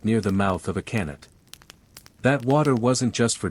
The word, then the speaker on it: qanat: A qanat, pronounced qanat, is an underground aqueduct, and it's one of the unsung heroes of Persian drink chilling and general staying aliveness.